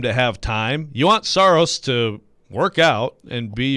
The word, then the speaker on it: Saros: Look, I went last year off of the official pronunciation guide that the Predators sent out, and in that, it said Saros.